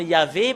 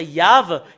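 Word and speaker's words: יהוה: que nous voyons que c'est faux le terme Yahvé, parce que c'est pas dans la prononciation. Et normalement, ça doit être Yav, et c'est VH la finalité.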